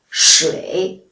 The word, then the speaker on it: 水: For example, 水, the third tone means water, and 睡, the fourth tone means sleep.